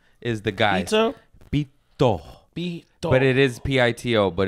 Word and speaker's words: pito: Pito. But it is P-I-T-O, but it's pronounced Pito.